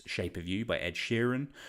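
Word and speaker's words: Sheeran: of You by Ed Sheran or as Alfred always calls him Ed shiran um still unsure why he pronounce it like that but always a pleasure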